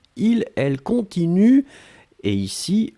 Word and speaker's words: continuent: prononcez je continue, tu continues, il, elle continue, et ici, le pluriel, il continue, U-E-N-T. On écrit E-N-T, on ne prononce pas.